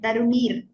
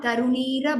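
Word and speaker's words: तरुणीर्: And in the last line again, Tarunir Bhuvana, not Tarunira Bhuvana.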